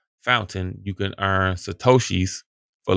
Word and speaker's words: Fountain: listening to podcast or music or whatever use fountain I said it wrong before like the first